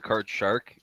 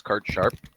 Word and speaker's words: card sharp: such thing as a card shark people just mispronounce the word it's card sharp oh cool and comes